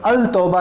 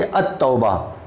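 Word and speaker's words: التوبة: जैसे इस लफ्ज़ को हम अगर बोलें तो अल तौबा नहीं बोल सकते, इसको हम बोलेंगे अत तौबा।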